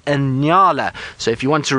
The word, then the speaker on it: Nyala: Now that antelope is called a Nyala. So if you want to remember its name, just think of New York and LA, Nyala, and that's how you spell it, and it's called Nyala.